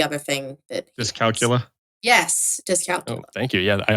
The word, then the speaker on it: dyscalculia: Yeah, ADD, and he has, I don't know how to pronounce the other thing that dyscalculia. Yes, dyscalculia.